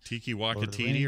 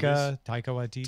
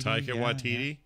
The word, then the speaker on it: Taika Waititi: Tiki Wakatiti, or however you say his name. That guy makes great movies. Taika Waititi. Taika Waititi.